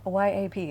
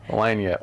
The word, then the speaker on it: Lagniappe: Yeah, Lanyap is how it's pronounced. Lagniappe.